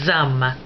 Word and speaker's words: hommes: H is a silent letter in French, always. But they have two kinds of H's. The first one is what they call a silent letter, des hommes. Has a silent H.